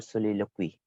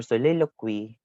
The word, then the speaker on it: soliloquy: be talking about is so it can be pronounced in either way or soliloquy or soliloquy is a monologue so